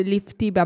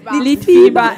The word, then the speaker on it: Litfiba: Beh, dopo che questa sera ho scoperto che non si dice Liftiba, ma Litti. Come si dice? Litfiba.